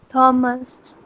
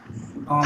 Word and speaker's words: Thomas: Though it is TH, it should be pronounced as th, but we pronounce it as ch. So pronounce this name as Thomas.